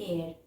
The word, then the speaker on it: heir: Now let's find few examples like an heir. Here H is silent.